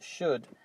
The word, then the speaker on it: should: And also, should, when you say the word, don't pronounce the O or the L. So if we remove this and remove this, the result is should.